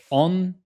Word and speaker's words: entrepreneur: So let's just start with pronunciation. Entrepreneur.